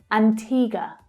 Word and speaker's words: Antigua: Antigua, Antigua. The second syllable is the stressed syllable in the first word. It's the long E sound. Antigua.